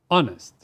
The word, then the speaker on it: honest: The first adjective we have here is honest. In order to express the opposite of honest, is it A, unhonest, or B, dishonest, or C, immodest? Remember, H is a silent letter.